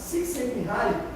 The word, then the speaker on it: Csikszentmihalyi: Por outro lado, Csikszentmihalyi pronuncia como se fosse 6, né? Cent de centavo. Csikszentmihalyi, ele é um dos grandes psicólogos sociais que estudam a criatividade.